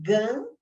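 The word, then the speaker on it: 肝: O yin e o yang é presente na medicina chinesa, então é o calor aí do fígado, gan, que como se fala em chinês, fígado, devido a uma deficiência de quem?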